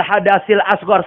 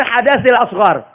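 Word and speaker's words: الحدث الأصغر: Nawaitul wudu li raf'il hadasil asghar, salah. Dia pakai sin. Yang benar hadasil asghar. Pakai sa.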